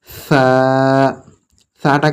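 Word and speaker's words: ثاء: বা তা সা। সাটা কেমন উচ্চারণ হবে? জিভ বের হবে, সামান্য একটু জিভ বের হবে।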